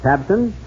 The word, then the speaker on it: Tabcin: But have you heard about Tabson? That's spelled Tabcin.